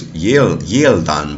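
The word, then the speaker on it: gieldan: followed by certain vowels, is not a G, but a Y. So for example, the word Old English word for yield is yieldan, but it's written with a G, but it's pronounced yield, just like it is in modern English.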